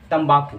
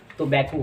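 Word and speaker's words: tobacco: जो अगला वर्ड है उसको लोग कहते हैं तंबाकू, तो ये तंबाकू नहीं होता बल्कि टोबैको होता है। जी हाँ, टोबैको।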